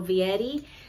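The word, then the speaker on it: Fieri: Fetti and then it's it's an F even though it's spelled f i e r i the f is um like a V and then Eddie so Vietti but this is the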